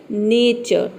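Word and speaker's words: nature: नेचर यहां पे देखिए एन ए का हो जाएगा ने और टी यू आर ए किसी भी वर्ड के अंत में टी यू आर ए आता है तो इसे हम प्रोनाउंस कहते हैं ठीक है ये हो जाएगा आपका नेचर नेचर का मतलब क्या होता है प्रकृति और यहां पे जो आर है इसको आपको आधारा प्रोनाउंस करना है यानी कि न के बराबर या फिर आप चाहे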